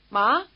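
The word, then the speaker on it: 麻: you can ask, "Ma?" with a rising intonation. Think of the question, "Ma?" and it may help you pronounce the rising tone word which means hemp.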